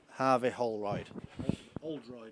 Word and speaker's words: Holroyd: Harvey Holroyd. Oldroyd. No H. No H. It's not like us Yorkshire people to pronounce as H's either as well, Mick, to be honest. Don't need them.